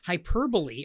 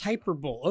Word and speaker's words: hyperbole: what he meant and it actually pronounced hyperbole i thought it was hyperbole okay that's fine yeah